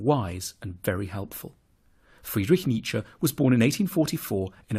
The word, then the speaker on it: Nietzsche: to pronounce his name the first bit should sound like me the second like JA Nietzsche then we need to